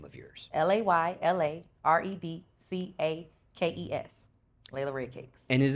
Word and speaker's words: Layla Red Cakes: They call me Lala, or they call me Lady Red Cakes, and I don't know where that came from, but it's Layla Red Cakes.